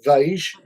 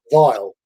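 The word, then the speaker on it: Vejle: for directions to a place um which we pronounced as vage because it was a and everyone's looking at us going huh and then they said no no no it's called vile and i'm like but you've got a j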